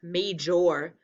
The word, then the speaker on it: major: And that looks like jor, major. But we don't say major. What do we say? Major. Like, this is a major earthquake, right?